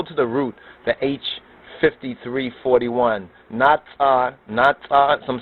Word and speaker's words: natsar: Natsar, some say natsar.